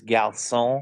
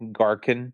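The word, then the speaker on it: garçon: It's not even like he's trying because the French word for waiter is gone. But he pronounce it the American way. Garin.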